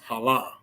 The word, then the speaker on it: Haran: Haran is actually pronounced Halah.